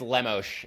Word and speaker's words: Lemos: is it it's it's I believe it's lemosh it's you know it's the Brazilian pronunciation so throw a little Portuguese uh heat on there sorry Amanda I'm trying